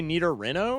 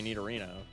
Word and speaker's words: Nidorino: Do you say Nidarino or Nidorino? It's literally Nidorino.